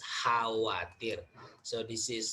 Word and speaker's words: khawatir: Remember in bahasa Indonesia, even though there is K here, letter K, but it is not pronounced. So we pronounce khawatir.